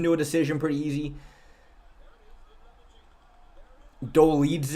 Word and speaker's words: Dolidze: Dolidze is how it's pronounced. That is exactly how I pronounced it. Dolidze. Doladiz. Oh, no, I said Doladiz, didn't I? I said Doladiz. Dolidze, my bad.